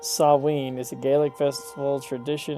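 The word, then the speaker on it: Samhain: Approximately pronounced sawin is a gaic festival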